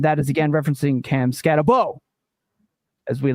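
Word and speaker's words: Skattebo: Can someone tell the guys that never watch college football that Scatterbo's name last name is pronounced Boo? Like when the monsters called the little girl in Monsters Inc.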